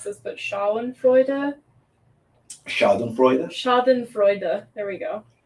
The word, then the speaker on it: schadenfreude: was thinking of I don't know how to pronounce this but Shaw and freuda schadenfreude schaden Freud there we go uh but that's